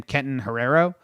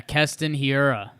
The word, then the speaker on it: Keston Hiura: Yelich home run to tie it, and then our dude, how do you say his name? Kenton Herrero? That's can't be right. Yeah, Keston Hiura.